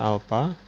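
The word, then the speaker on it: α: Ini dibaca alpha. Atau bisa juga kita menggunakan lambang seperti ini. Nah, ini dibacanya beta.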